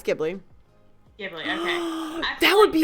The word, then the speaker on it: Ghibli: be bad because I never know how to pronounce the name, but I call it Studio Ghibli. Yeah, it's Ghibli.